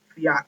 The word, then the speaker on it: Fiat: um that part of the company to fi Fiat I believe that's how you say it's car